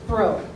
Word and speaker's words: Brault: She made them pronounce it the way it was spelled, and it stuck. Great-grandma and Grandpa were Mr. and Mrs. Bro. Grandma and Grandpa were Mr. and Mrs. Brault.